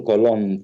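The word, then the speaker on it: Colón: do with the cristobal colon family colon is is how you say it in spanish and i would appreciate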